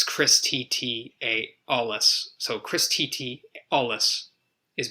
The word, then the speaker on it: Alles: You could find me on my website, which is just my name, Alles, and that's A-L. Spelled like the German. Yes. Yeah, A-L-L-E-S. Yes, alles good.